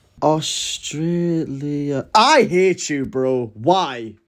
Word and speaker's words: Australia: The word Australia contains three A's and they're all pronounced differently. Australia.